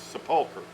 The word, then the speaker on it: sepulcher: Not unlike the word sepulcher versus sepulcher. We say sepulcher in our church, but it's a sepulcher. And everybody in the world says sepulcher except us. We call it sepulcher.